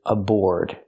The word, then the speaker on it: aboard: The first word is aboard, and the second word is abroad. They're different. Let's look at the first word. Aboard. Use the or sound like floor and more, plus the D at the end.